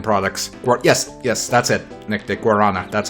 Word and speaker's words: guaraná: Guarana. That's how it's spelled. I prefer the Brazilian pronunciation, Guaraná, but that's because I'm stupid.